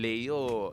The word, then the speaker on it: Leyo: Kasi iyung Leo, it's spelled L E Y O. Normally wala yyung Y and Leo yyung Leo yung mga pangalan that we're used to.